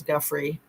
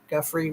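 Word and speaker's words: Giuffre: I think it's Guffrey, almost like Guthrie, like Arlo Guthrie, but it's Guffrey with an F instead of the TH.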